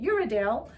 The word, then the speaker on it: Uradale: We're calling it Uradale because Ronnie himself told us that's how it's pronounced. We were all calling it Uradale.